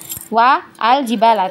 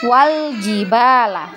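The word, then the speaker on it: والجبال: wa dan Al jibala ini di tengah kalimat ya huruf kalimat pertamanya itu Wa Ya Wa Al jibala tapi kita bacanya itu bukan WA aljibala atau wa'ul jibala tapi Wal jibala ya sampai di situ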